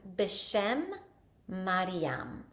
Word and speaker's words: Beshem Mariam: And just so you can know how to pronounce it, it's Beshem Mariam.